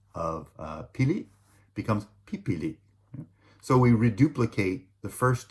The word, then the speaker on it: pipili: In the future tense, so will run, will walk, will choose, right, are pronounced tatakbu for will run, lalakad for will walk, and pipili for will choose.